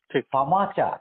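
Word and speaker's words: FAMACHA: এটা আমাদের কাছে একটা নতুন একটা শব্দ ফামাচা এটা ইংরেজিতে যদি উচ্চারণ করি এফ এম এ সি এইচ এ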